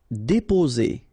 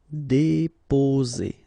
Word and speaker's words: déposer: Déposer. Okay, only one S between two vowels, so the sound is Z. Déposer.